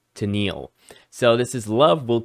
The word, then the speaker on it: Tennille: I had to go and see the pronunciation of the So I got it right, Tennille.